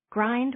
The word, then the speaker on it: Grind: of land called Mavis Grind. Grind with the I pronounced as in in means a gate, though my husband says